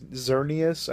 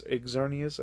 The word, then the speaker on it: Xerneas: dude i think is xerneas i think it's exornius i think is how you uh pronounce that and he or he